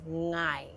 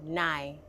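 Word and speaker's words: 𠊎: Okay, I is ngai, and if you can pass this is the thing. Like then you can pronounce most Hakka words. Most people will go nai. Everyone here say ngai. Nine. Say it. No. No. Most people are gonna Say it say again. ngai, ngai.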